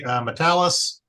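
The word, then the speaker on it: Matalas: So I want to say this to Terry, if I'm pronouncing it correctly, Metalis. No, you got it right for once.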